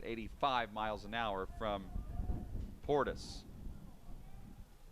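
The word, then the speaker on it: Portice: miles an hour from portis it's two balls and a strike portis spells his name p-o-r-t-i-c-e even though it's pronounced like clinton portis the former nfl running back the 2-1 misses high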